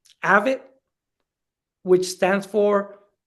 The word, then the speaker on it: AVID: So, thinking of in our schools, in our district, we have an initiative that is called AVID, which stands for, it's spelled A-V as in Virginia, I-D, and it stands for Advancement via Individual Determination.